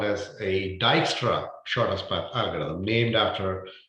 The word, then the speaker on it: Dijkstra: Okay, so this algorithm is called as a Dijkstra shortest path algorithm, named after uh, the person who invented this algorithm, Dijkstra. The J is silent there, right?